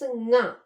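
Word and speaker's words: ಙ: I just written nya, but this pronunciation is nga.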